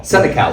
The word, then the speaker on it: Senecal: I can spell it. Senecal. Senecal, so just like it looks.